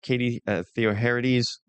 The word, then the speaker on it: Katie Theoharides: Katie Theoharides.